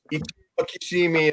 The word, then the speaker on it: Ichiro Kishimi: Kellen, you were wondering about the names Ichiro Kishimi and Fumitake Koga, the authors of that book. I love it. That's how you pronounce the Japanese.